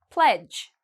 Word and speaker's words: pledge: Pledge. Okay, pledge, again, all of these actually kind of rhyme. You see the D and the G together, we don't pronounce the D.